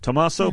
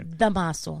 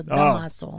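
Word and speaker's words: Dámaso Pérez Prado: Tomaso Perez Prado. No, okay. Damaso. Oh, it's not Tomaso. No, Damaso.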